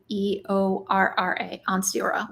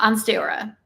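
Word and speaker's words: Ansteorra: name pronounced on stayora a-n-s-t-e-o-r-r-a onstiora one star because the Lone Star State and also Oklahoma so uh on stayora and um and sign language it is one star on Sarah there's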